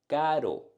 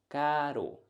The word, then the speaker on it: caro: On the other hand, we have expensive, caro, one touch, caro, carro, car, expensive, caro, caro.